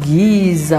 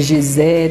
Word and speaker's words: Giza: São as pirâmides, que eles chamam de pirâmides de Giza ou de Gizé, dependendo da pronúncia ali.